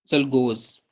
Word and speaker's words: Czolgosz: Assassinate करने वाले बंदे का नाम आप लिख लें, लियोन जलगोज। लियोन जलगोज, स्पेलिंग लिख लें, LEON, लियोन, CZOLGOSZ, लियोन जेलगोज।